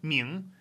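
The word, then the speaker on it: 明: How about the pronunciation? Well, that's Marilyn Monroe representing M-I. Your office break room represents N-G and second tone.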